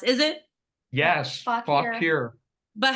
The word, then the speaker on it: Fauquier: No, that's not how it's really pronounced, is it? Yes, Fauquier.